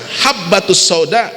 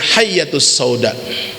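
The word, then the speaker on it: الحبة السوداء: Harusnya habbatus sauda dengan ba habbatun artinya jintan, dia membacanya hayyatus sauda, artinya berbeda, sehingga bukan jintan hitam tapi artinya ular hitam.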